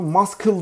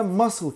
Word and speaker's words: muscle: Bunu muscle diye yanlış telaffuz edenler olabilir. Bu kelime muscle kelimesi. Burada da sessiz bir harfimiz var.